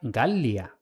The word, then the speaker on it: Gallia: "Gallia" se pronuncia "Gallia", pronunciando las dos eles por separado.